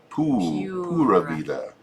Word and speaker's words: Pura Vida: a couple days ago, Pura Vida. And BB from Spain says I'm saying it right. Okay. Pura Vida. She said no, it's Spanish. Yeah. It's ooh. Pura Vida.